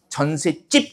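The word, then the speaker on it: 전셋집: 전세집. 이렇게 발음이 되는 거예요.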